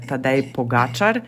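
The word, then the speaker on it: Tadej Pogačar: Then we also have Tadej Pogacar, Primož Roglic, and Luka Mezgec on Tour de France this year.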